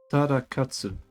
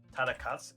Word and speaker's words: Tadakatsu: Just Tarakatsu. Tadakatsu.